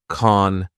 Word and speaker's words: can't: if they had said also notice how Ricky doesn't pronounce the T in can't we just have the long a vowel sound like in car and then the n Sound con con touch focusing on